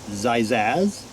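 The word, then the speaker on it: Xaxiaz: x a x i a z but it's pronounced zizazz yes hello size are you today good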